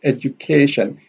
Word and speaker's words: education: Here we have education. A here has a secondary stress, and K here has a primary stress.